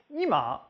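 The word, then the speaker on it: 今: So like, ima means now, but ima means living room. For now, the pitch drops on the first syllable, but for living room, it drops on the second.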